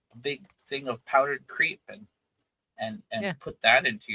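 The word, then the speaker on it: Creap: Um, in in in Japan, the the powdered milk for your coffee, it's called creep. It's spelled C R E A P.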